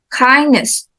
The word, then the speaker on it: kindness: syllable danger okay and then kindness kindness yes kind the first syllable and then credit so